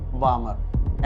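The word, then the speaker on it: Balmer: बामर क्या साइंटिस्ट है Johan बामर बामर L silent ठीक है जोहान बामर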